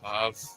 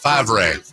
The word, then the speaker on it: Favre: Five. That's a great point. Wait, five? Favre. Favre. The V is silent, dude.